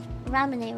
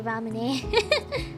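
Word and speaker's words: ラムネ: Yeah, it's pronounced ramune, right? I'm pretty sure.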